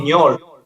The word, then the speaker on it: Ñol: England, or in Argentina, they call me ñol. Ñol, the thing in the top of the end. In your dictionary, it's difficult, hard for English people to pronunciation like this.